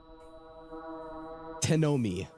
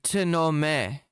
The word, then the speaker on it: Tenome: He almost said it right. Tenome t a knight by robbers. Me will be t e shout in anger. No, it'll be t e n o m i yelling about how